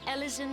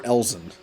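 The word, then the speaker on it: Elezen: going to pronounce ellison is it ellison or elsin because again alvin isn't said eleven it's elven so i figured maybe ellison might be pronounced elsin but the difference is elvin is an adjective whereas ellison is well the noun so i guess that's that could explain why it's not said that way also you know different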